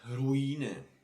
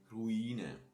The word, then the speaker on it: Ruine: E, So words like ruine, ruine. So you stress here this E and you cut it longer.